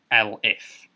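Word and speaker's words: elif: an elsif in python is defined as l if okay so it's spelled like that lf okay so alif means else if and you can see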